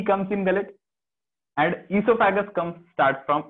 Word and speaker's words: oesophagus: तो एक चीज क्या पता रखना है हमको बस, कि इसोफेगस में सर ई से स्टार्ट होता है, वैसे तो ओ से होता है बट ओ साइलेंट है, मैंने बता दिया।